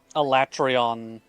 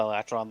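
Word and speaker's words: Alatreon: There's another one where it's just The elatreon, not the elatron, the fatalis normal bow plucking in at like 400 500 I think at the when it's upgraded.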